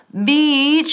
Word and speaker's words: beach: Beach y no beach. Beach, beach. Hay que sonreír.